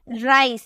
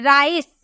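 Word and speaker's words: rice: हमें समझ में आए राइस यहां पे आप जो सी लिखे है ना इसे क्या पढ़ रहे हैं राइस स में प्रोनाउंस कर रहे ना स में राइस ठीक है राइस इसी तरह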